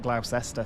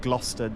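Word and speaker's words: Gloucester: Like uh on Transport Fever 2, I've been calling it Glausester for the past sort of 20 or 30 episodes. I do repeatedly get people like telling me it's pronounced Glouester G L O S T E R as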